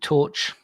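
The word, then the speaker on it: Torche: Yeah, so that's a band called Torch, spelled with an E on the end, and the album's Neanderthal.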